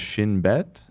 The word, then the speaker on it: Shin Bet: So, and Ela, you can correct me if I'm wrong, but this is pronounced Shin Bet.